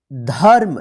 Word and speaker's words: धर्म: आप उच्चारण करके पढ़िए ध्यान रखिएगा जिस अक्षर पे रेफ की मात्रा लिखा रहेगा उस अक्षर के साथ जो है ना आधा र का उच्चारण नहीं कीजिएगा उससे पहले जो अक्षर लिखा रहेगा उस अक्षर के बाद जो है ना आधा र का उच्चारण कीजिएगा तो चलिए अब हम इसको